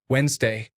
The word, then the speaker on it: Wednesday: Minefield letters that make a word hard to pronounce until you realize they are not pronounced at all. Sword? It is actually just sword. Night? Night. Wednesday.